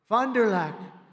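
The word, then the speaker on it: Fond du Lac: did earlier this year in Fond dulah Wisconsin fonderlac nice I love these names I wish they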